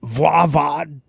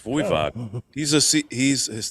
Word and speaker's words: Voivod: Is it Voivod? No, it's Voivod.